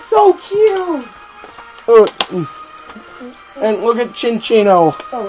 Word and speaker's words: Minccino: Never pronounce it as Kinchino. If you get a Chinchino with it's skill wing.